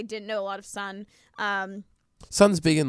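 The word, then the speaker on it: Sohn: It's Sun. It's pronounced Sun. S-O-H-N.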